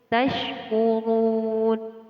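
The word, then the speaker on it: تَشْكُرُونَ: Terdapat ro di sini, ro yang ditandai dengan harokat dhammah, dibaca tebal atau tafkhim. Tashkurun, tashkurun. tashkurun. Run, run. Di sini terdapat hukum bacaan mad, yaitu mad aridil sukun. Cara membacanya sepanjang 1, 2, sampai 3 alif, atau kira-kira sebanyak atau selama 6 ketukan.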